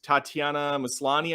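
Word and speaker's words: Tatiana Maslany: done I really like the the lead actress Tatiana maslani I think is how you say it um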